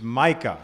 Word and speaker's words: Micah: How do you pronounce it? It's Micah.